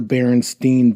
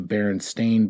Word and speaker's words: Berenstain: But according to all of this, and according to everything that you look at now, it's actually spelled with an A. So it'd be like the Berenstain Bears. So Berenstain. And that blows my mind.